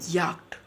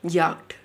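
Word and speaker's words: Yacht: याक्ट। कैसे पढ़ते हैं? याक्ट।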